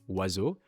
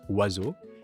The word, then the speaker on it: oiseaux: the French language for the word wazu, which means birds in French. Apparently, none of the letters are pronounced the way that they should be.